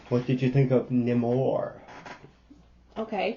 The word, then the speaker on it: Namor: What did you think of Namor? Okay, that's not how they say it. They're always Namor. That sounds like Amor.